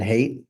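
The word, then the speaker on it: Haidt: if you're familiar with Jonathan Hate. I think that's how you say his name.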